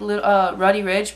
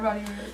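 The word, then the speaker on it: Roddy Ricch: So we watched him, and then after that, it was, like, Roddy Ridge, but at that point, we, like, went to go eat.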